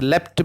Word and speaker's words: leapt: Instead of L-E-A-P-T, leaped, the poet has used leapt because it should rhyme with the leopard, leapt and leopard.